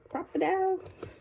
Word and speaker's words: Crop-A-Dile: then I have the crocodile crocodile that's how you say it um and then